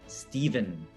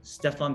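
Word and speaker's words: Stephen: was pitching from nike kept calling stefan curry steven curry and if you're laughing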